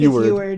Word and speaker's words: Eward: like, Edward White, or how do you pronounce it? Eward or Edward? Eward, I think Eward. it's Eward.